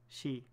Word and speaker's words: ski: I was right - would pronounce ski she yeah you know she in Norwegian yeah yeah and it's but it's written as K I so yeah go figure